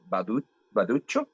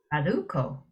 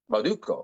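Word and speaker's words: Bauducco: They say made in America, but they're Baduccio. Baduccio. Oh. Baduccio. Oh. Is that how you pronounce it? Baduccio? Baducco. Baducco.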